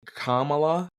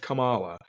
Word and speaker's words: Kamala: I always I've always said Kamala like because that's how you spell it. I mean K A M A L A.